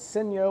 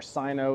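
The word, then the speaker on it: Syno: Now, the motor on the Stromer ST5 Pinion is located here in the rear hub, and it's made by a company called Sino or Sino, it's spelled S-Y-N-O, and this is the sport motor at 750 watts.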